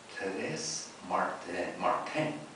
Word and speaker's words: Thérèse Martin: reminds us here, that Thérèse Martin, I guess you would pronounce it in French like that, the little flower, died on September 30th, so it would have been yesterday, in 1897.